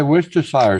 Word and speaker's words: Worcestershire: properly nobody I say Worcestershire sauce this is what Americans pronounce which is wrong it's not Shire ly yeah it's it's like right say Hampshire you say Hampshire it's not Shire it's sheer no I say New